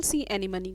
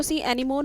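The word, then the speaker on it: sea anemone: पहला ऑर्किड का एग्जाम्पल, दूसरा बार्नेकल्स का, तीसरा कैटल एग्रेट का और चौथा एग्जाम्पल सी एनीमनी का। इसको सी एनीमोन नहीं कहते हैं, इसको सी एनीमनी प्रोनाउंस किया जाता है।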